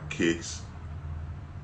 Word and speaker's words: Quiks: But this episode was brought to you by Kicks, an urban shoe brand developed by yours truly. It's spelled Quiks.